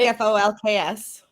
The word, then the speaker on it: Folx: The word is spelled Folx, and I've never said it out loud. It's like Folks.